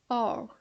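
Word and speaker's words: hour: Or, que aí a gente tem um Hzinho, mas o H não tem som. Então, a gente vai pronunciar primeiro o Ozinho.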